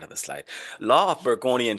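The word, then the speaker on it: Bergonié: Law of Burggoni and Tribandeu, that's how you say it.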